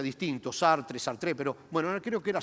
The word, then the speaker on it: Sartre: Había un pensador, un filósofo francés, Sartre, el nombre, todo el mundo lo pronuncia distinto, Sartre, pero bueno, creo que era Sartre, era francés.